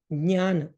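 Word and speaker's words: ज्ञान: Like, for example, if we just say, if we just say this, okay, so the proper pronunciation for this is jnana.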